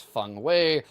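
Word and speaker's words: Feng Wei: He likes fun way. I know that's not how the game says it, but that's the actual Mandarin pronunciation.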